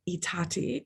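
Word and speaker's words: I Tatti: The letters, those letters, the Bernard Berenson, Belle da Costa Greene letters, were in Itati, which I think that's how you pronounce it.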